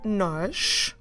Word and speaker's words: nós: You can spot a sh sound at the end. So that tells you that the letter we're actually writing is S. So nós is N-O with an accent to the right again, S.